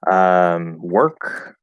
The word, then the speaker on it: work: This is the big exception to the OR spelling, where even if it's stressed, it's still going to be pronounced not or. So we have words, we have worm, or worms if it's plural, work.